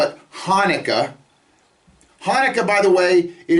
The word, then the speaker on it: Hanukkah: hanukkah is a legitimate holiday and it's not hanukkah it's hanukkah it begins with a hat noon cough hay and we can find